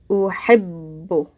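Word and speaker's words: أُحِبُّ: That last letter, we're pronouncing it twice. I'm not saying uhibbu, just short. Uhibbu. And we have a shadda on the ba. Because I'm pronouncing it twice. I'm saying uhibbu.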